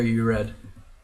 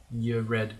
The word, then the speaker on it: Yredy: It's another name where after the first syllable, or Yredy, after the first 2 syllables, most of it can be silent.